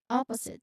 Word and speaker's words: opposite: So the pronunciation it begins with the stress of the first syllable of that's the first the syllable stress is on the first syllable. Opposite. So there's a short O sound as in hot. Opposite. And then um there is a buzzing sound here.